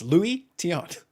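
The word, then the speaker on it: Luis Tiant: It's Louie Tiant. Yes. Louie Tiant. Louie it's not Tiant.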